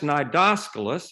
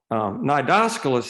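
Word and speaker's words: Cnidoscolus: is in the genus nidoscopus it has a weird pronunciation you don't pronounce the c and that's in the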